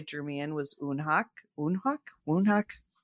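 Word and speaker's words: Woonhak: Unhawk. Wonhawk. TBD on the pronunciation, but I think they say unhuck.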